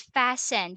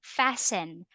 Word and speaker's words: fasten: Elsa this word is fastened you don't pronounce the word t letter T right there is silent when you say silent meaning you don't pronounce always fasten fasten your seat belt